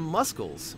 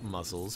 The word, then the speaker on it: muscles: our way to some muscles or muscles for those of you who don't like to pronounce the C in that word and uh yeah so